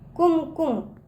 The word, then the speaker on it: कुमकुम: इसका उच्चारण बच्चों, जो छोटा ऊ की मात्रा उसका दूर तक नहीं जाता ना, तो उसे कुम, क पे छोटा लगा कुम, इस तरह से बोलेंगे।